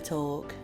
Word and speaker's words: talk: I want to talk. That was an ad in the UK when we lived there. How do you pronounce, as an American, the word talk? Talk. Cuz the L apparently is silent.